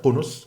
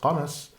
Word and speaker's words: Qunus: Ibn Ishaq explained that the clan of Qunus, or sometimes pronounced Qanas, the son of Ma'ad, died out.